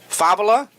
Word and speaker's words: Favela: And all that being said, I've got Sandra Favela, accent on the second syllable, Connie Magana, and Mr.